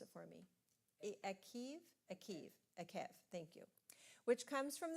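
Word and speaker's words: Eikev: Sharon, pronounce it for me. Akev, thank you.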